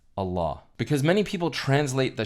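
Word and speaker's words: الله: And when you put el ilah together in the Arabic language, it combines to be pronounced as Allah.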